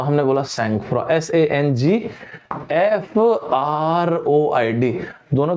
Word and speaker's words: sangfroid: है, तो हमने बोला सैंगफ्रॉ, SANGFROID। दोनों के बीच में एक स्पेस होता है ना, हाइफन होता है एक्चुअली, सैंगफ्रॉ। इस वर्ड का प्रोनाउंसिएशन सैंगफ्रॉ, SANGFROID, राइट?